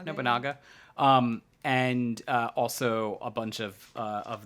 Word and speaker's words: Nobunaga: Tobiel's, I think, are a little more necessary in No Limit because we're running Nobunaka. Was that how we pronounce it? Nobunaga.